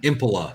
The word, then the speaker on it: Impola: It's not Impala. It's Impola. I mean- Impala. That's how they say it.